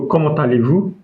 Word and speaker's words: comment allez-vous: So, comment allez-vous? So, it means how are you? That is formal. So, let us pronounce it again. What is this? Mhm. Then, very good. So, comment allez-vous?